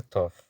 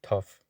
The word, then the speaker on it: Thoth: A pessoa retrata aqui, a pessoa retratada aqui é um homem de nome tof, pronunciado pronunciado com um ou longo. Algumas pessoas dizem, mas ele se pronuncia thought.